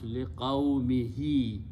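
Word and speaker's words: لِقَوْمِهِ: pronounce don't change, but for the reason of having two kasras next to each other, easy tajweed, we pronounce liqaumihi, to his people.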